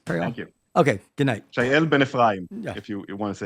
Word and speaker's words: Shael Ben-Ephraim: Shael Ben-Ephraim, if you want to say it in Hebrew.